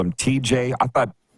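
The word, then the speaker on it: Tij: It's like Tej, like Teej is kind of like the pronunciation I've been told.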